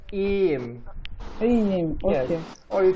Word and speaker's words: iyiyim: Yeah, you can just say iyiyim. Like Okay. you make the Y sound longer, like iyiyim.